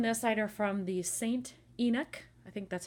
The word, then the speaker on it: St. Enoch: And these photos on this side are from the St. Enoch, I think that's how you say it, E-N-O-C-H, St. Enoch Shopping Center in Glasgow.